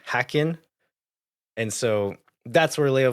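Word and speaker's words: Häcken: I'm right uh and why I was calling calling it hakin but it's apparently hackin and so that's where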